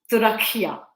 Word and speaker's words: Turakhia: इट इज तुरखिया.